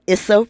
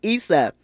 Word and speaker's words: Issa: know a lot about Isa Ray Isa not Issa Isa um and and the audience immediately immediately interrupted Miss Glenda correcting her pronunciation letting her know it's isao don't mess that up it's Issa and mcneel corrected herself Issa